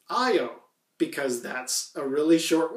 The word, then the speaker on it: Io: carl sagan in 1980 he himself referred to that moon as I oh and I think okay if Carl Sagan says I oh that's got to be the right way my friend for whatever reason decided to correct me is like you know technically speaking it's named after a Greek god I think of romantically so the Greeks themselves would not say I oh it would say you and for some reason